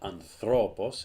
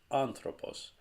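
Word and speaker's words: ἄνθρωπος: the alpha like this and this accent on top of this syllable tells you that the stress of the word goes on this syllable anthropos it's not under all boss it's not under a boss it's anthropos i have a very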